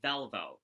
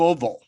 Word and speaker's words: Valvo: So, my last name is pronounced Valvo. So, like a lot of Uh, times I get, the car, people think it's that pronunciation, but fun or like fact, a Volvo.